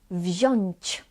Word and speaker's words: wziąć: Then we pronounced on as oń, oń. Sądzić, sądzić. Wziąć, wziąć.